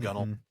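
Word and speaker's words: gunwale: And then we see the hand on the gunnel. That's the word that's spelled like it's gun whale, but it it is pronounced gunnel.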